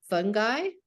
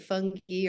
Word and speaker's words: fungi: but it's also a fungi I like the way you can pronounce It Funky or fungi I kind of like fun guy and our class of